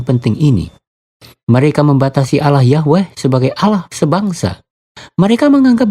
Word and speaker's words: Yahweh: Akhirnya mereka menyimpulkan dengan pengucapan Yahweh.